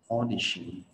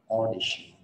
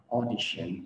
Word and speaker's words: audition: Đó, o, rộng cái mồm ra, làm má hóp lại, tròn miệng vào, audition, audition, audience. Mọi người nhớ đây không phải là audition và audience.